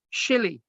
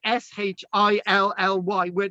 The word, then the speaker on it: Sully: So in the present day, the county people pronounce the name Shilly, which is Shilly.